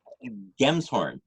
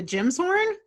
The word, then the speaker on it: Gemshorn: Gemshorn. Okay. I've seen you write it before, but it's one of those things where I'm like, is it a Jim's horn? It's a Gem's horn. Gemshorn.